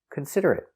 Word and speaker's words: considerate: Pronunciation, considerate. K, k, con, s, cons, consid, consid, consider, consider, consider, consider, considerate, considerate, considerate, considerate, considerate. 4 syllables. The stress is on the second syllable.